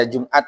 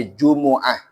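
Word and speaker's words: جمعة: ini menjelaskan wafil jumuati Jadi jangan dibaca Jumat ya Pak Jumat itu bahasa Indonesia bahasa Arabnya Jumuah perhatikan ayat apa tuh yang tentang fantasiruil Ardi wagblillah basanya dibaca orang-orang khatib Jumat itu itu bacanya Jumuah bukan Jumat wail jumuti Adapun salat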